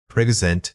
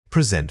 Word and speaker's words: present: Present noun. Present verb. The noun emphasizes the first syllable, meaning the item given.